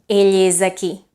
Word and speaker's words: Ell és aquí: Now, what happens if after is you say the word aquí and you put it all together? How do you pronounce it? Ell és aquí. Ell és aquí. Right? So what happened? That S that used to be voiceless is now voiced, isn't it?